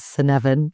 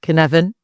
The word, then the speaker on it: Cynefin: Yeah, so our website, the Cynefin Company, if you pop that into Google, it's Cynefin. Everyone always mispronounces it as Cynefin, but Cynefin. My Welsh ancestors will be happy with that.